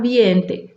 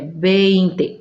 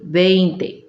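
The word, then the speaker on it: veinte: Que, de novo, não é para ditongar, não é IE, é E-I, 20. Não pode falar viente, é 20, 20, 20.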